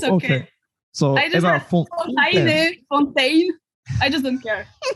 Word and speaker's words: Fontaine: have asked you before what how is that pronounced in french is fountain but it's okay fontaine i just don't care don't get me